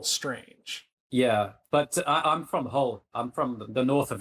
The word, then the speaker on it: Hull: Yeah, Hull, Hull. That's my hometown. Yeah, but you don't say Hull. Everyone calls it Hull because it's that kind of place. So nobody pronounces the H.